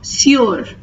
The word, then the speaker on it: sur: Please note the difference between these two. The pronunciation for is, it has the oo sound. Sous. Here it has the u sound. Sur.